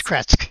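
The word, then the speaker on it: Krezk: a home um in kratz i forgot how to pronounce that it's krisk yeah kretz yeah i found a home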